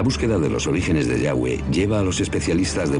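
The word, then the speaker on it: Yahvé: y h w h pensamos que probablemente se pronunciaba yagüe o algo así pero ya ve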